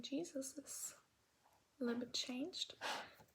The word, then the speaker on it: Jesus: the German pronunciation is Jesus had to wear it a little bit smaller. The writing stays the same, but it's pronounced differently from Jesus G to Jesus.